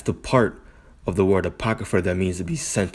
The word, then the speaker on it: apocrypha: All right, it is how it's pronounced. So the kryph, the APOCR, let me just type it in. Make sure I'm not tripping. APO, the CRYPH. Like when something is encrypted.